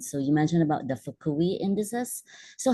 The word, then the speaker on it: Fukui: How did you, is that the right pronunciation? Yeah, Index? Fukui.